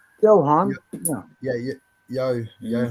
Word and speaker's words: Johann: my Presley's one okay j-o-h-a-n-n they pronounce that as a Yohan yeah yeah yeah yo